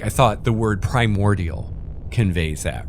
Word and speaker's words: Primordia: familiar with the word primordial and you see primordia you're gonna be like oh it's like primordial without the L and you instantly know how to say it right easy peasy it's